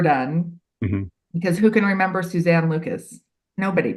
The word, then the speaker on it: Suzanne: because who can remember Suzanne Lucas nobody people can't even say it right they call me Susan all the time um which I'm not but I will answer